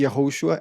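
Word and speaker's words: Yehoshua: Yeshua é como os gregos pronunciavam e Yahoshua é como o hebreu pronunciaria.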